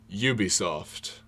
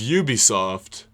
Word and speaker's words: Ubisoft: Maybe, if you have been, then you now know that it's Ubisoft and not Ubisoft. That is emphasis on you, like you were saying, like Yu-Gi-Oh! Ubisoft, not like Ub. It's not Ubisoft. It's Ubisoft.